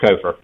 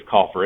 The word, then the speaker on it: Kofer: it correct Mr Ellie it is Mr kofer and and I do appreciate it's commonly mispronounced as Cofer it's it's the misspelling with the two FS I guess but you